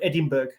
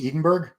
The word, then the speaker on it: Edinburgh: um they they said the word Edinburg is that not right it's Edenberg Edinburgh well you know what